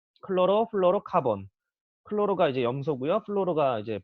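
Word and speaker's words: chlorofluorocarbon: 영어로 여기 CFCS라고 하는데 이 영어로 뭐라고 읽냐면 클로로 플로로 카본.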